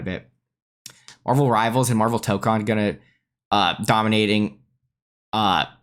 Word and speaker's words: Tōkon: But more importantly, I think the bigger issue is that when Americans say Tokon over and over, they're going to eventually end up saying Token, which sounds a lot like Tekken, which is a direct competitor of this game, right?